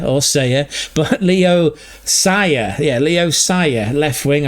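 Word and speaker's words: Leo Sauer: Not Leo Sawya or Saiya, but Leo Sia. Yeah, Leo Sia left wing. I've butchered that joke, but we'll come back to it another day.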